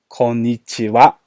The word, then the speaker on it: konnichiwa: for reasons we'll cover in another lesson it's pronounced what konnichiwa hello and good evening konban WA so again